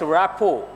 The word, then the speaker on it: rapport: who has the best rap foe here T is silent underline the word rap